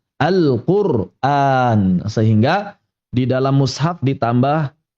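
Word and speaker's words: القرآن: Kita sesuai dengan qiraat yang kita lazimi, riwayat Hafz dari qiraatnya Imam Asim, kita baca dengan ro sukun dan hamzah yang panjang Al-Qur'an.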